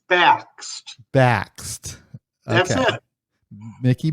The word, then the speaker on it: Bakst: His name is Mickey, and I should have asked him how to pronounce his last name, but I'm going to try Bakst. Is that right? Close, but it's Bakst.